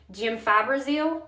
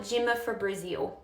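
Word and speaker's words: gemfibrozil: And when I first started in pharmacy, this word is pronounced jim fibrazil or jim fibrazil, whatever. I would call it jimmaprazil.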